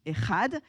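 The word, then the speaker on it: אחד: raconte en fait l'unité comment se dit 1 en hébreu 1 ça se dit ehad quand vous éccrivez ehad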